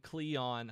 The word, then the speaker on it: Kleon: there's a book by Austin Kleon I think that's how you say his name k l EO n called steal like